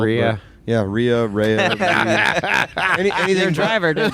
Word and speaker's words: Rea: You're going to pronounce it wrong after you see it spelled. Rhea.